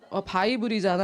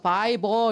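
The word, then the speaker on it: Bible: 성경 바이블이잖아 그랬더니 아니요 바이버 이렇게 하셔야 돼. 바이버 따라해보라고.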